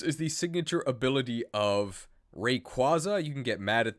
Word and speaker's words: Rayquaza: job uses adobe pronounce pronounce rayquaza the better way rayquaza right that's how you actually say it okay enough dawdling uh